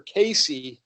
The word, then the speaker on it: Cayce: And I believe his name is actually pronounced Edgar Cayce.